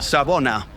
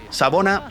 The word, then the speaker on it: Sawubona: Para nuestros amigos, ¿cómo se dice hola en Zulu, por ejemplo? Hola. Ah, hola. Ah, buenas. Hola. Sabona. Sabona. Sabona es hola.